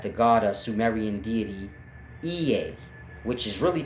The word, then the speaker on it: Ea: It was pronounced Ea.